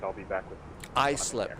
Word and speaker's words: Islip: Islip, not Islip. I just see the I in there, and I just mispronounce it. It's Islip, not Islip.